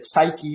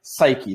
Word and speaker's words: psyche: So we never say psychology, we never say psyche, we always say psyche. The p is silent, 100%.